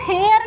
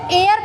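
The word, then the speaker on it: heir: एयर, इसको हेयर नहीं पढ़ेंगे, इसको एयर पढ़ेंगे।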